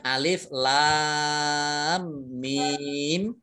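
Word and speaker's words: الم: Jadi alifnya dibaca pendek, lamnya dibaca panjang 6 harokat, kemudian mimnya juga dibaca panjang 6 harokat, lamnya ini mendengung dengan mim, ya, alif lam mim gitu bacanya.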